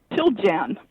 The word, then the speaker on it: Chiljan: Chiljan. Chiljan. Chiljan. Yeah. All right. Chiljan. Chiljan, right. Chilly in January. All right.